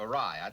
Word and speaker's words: awry: Well, the way you said Ori instead of awry, that's a pretty good...